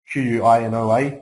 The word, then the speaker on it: quinoa: If you're looking for an alternative, things like quinoa are amazing. Quinoa, it's spelled Q-U-I-N-O-A, quinoa, it looks like.